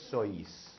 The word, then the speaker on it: sois: it out so ease now you pronounce both the O and the I vosotros sois now when we're doing